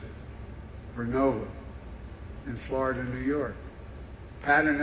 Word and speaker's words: Vernova: Arcosa makes wind towers that's going to go into turbines made by GE Verona. Excuse me, I mispronounced it. Vernova in Florida, New York.